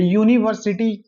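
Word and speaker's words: university: तो य कसोनेंट साउंड है और जब कसोनेंट साउंड है तो ए की एन ए भरेंगे तो यूनिवर्सिटी यूनिवर्सिटी य का साउंड है तो अ यूनिवर्सिटी लेकिन अगर आप वोवेल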